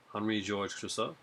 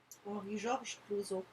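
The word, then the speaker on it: Henri-Georges Clouzot: Next one I got is by Henri Georges Clouzot. There, that's my French Canadian way of saying it. Say it, French. Go ahead. Mm-hmm. Say his name. Henri Georges Clouzot.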